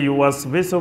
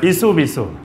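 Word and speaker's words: يُوَسْوِسُ: এটা উচ্চারণ করতে যায় আমাদের দেশের ম্যাক্সিমাম মানুষ ভুল করে, ইউ ওয়াস বিসু, ইসু বিসু। আমাদের দেশের অনেক লোকেরা এটা সঠিকভাবে উচ্চারণ করতে পারে না। এটা কোরআনের কিন্তু খুব কঠিন একটা শব্দ, ইউ ওয়াস বিসু। তিনটা জিনিস এখানে, ইউ ওয়াস বিসু। এটার উচ্চারণ সঠিক না হলে ইসু বিসু হয়ে যাবে।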